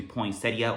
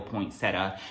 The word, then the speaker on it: Poinsettia: you, but I guess the correct pronunciation is supposed to be Poinsettia or Poinsettia, so just keep that in mind if you are going around trying to pronounce this candle.